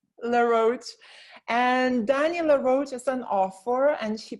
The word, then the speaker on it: LaRoche: And Dani LaRoche is an author, and she published a book about loneliness on Amazon.